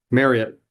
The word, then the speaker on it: Marriott: It's not Marriott. It's Marriott. Marriott. Marriott, like chariot.